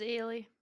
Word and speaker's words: Ailey: Name's Ailey. You say it like Haley without the H. Ailey, alright.